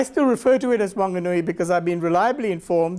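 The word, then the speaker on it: Whanganui: the way in those days it was called Wanganoi not Fanganoi. There was no H. Um, and I still refer to it as Wanganui because I've been reliably informed that the local WI don't pronounce the H.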